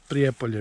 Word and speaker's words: Prijepolje: a couple of things about our trip in prepay yeah pre-apollo because i know how to say it okay